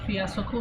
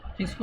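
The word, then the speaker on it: fiasco: इसको आप फियासको नहीं पढ़ सकते, यह फिस्को, फिस्को है इसका प्रोनाउंसिएशन।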